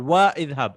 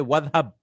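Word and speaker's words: وَاذْهَبْ: I won't read it at fa idhab or wa idhab. I'll say wadhab.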